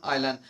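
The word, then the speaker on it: island: We live, আমরা বসবাস করতাম বিগ হাফ মুন বলে যে জায়গাটা আছে, ওই আইল্যান্ড, কেউ ইসল্যান্ড উচ্চারণ করবেন না, এখানে এসটা সাইলেন্স থাকবে ফনেটিক্সের প্রোনাউন্সিয়েশনের রীতি অনুযায়ী।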